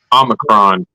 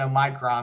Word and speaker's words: omicron: wall street journal on oh oh micron i'm assuming that's how you say it omicron omicron yes correct me because i've been saying a micron all day this is what the